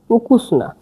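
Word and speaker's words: ukusna: তাহলে আগে হবে গোভেদিনা সুস্বাদু হলো সুস্বাধু যে উকুসনা উকুসনা মানে সুস্বাধু দেখেন লিখা আছে সারবিয়ানে গোভেদিনা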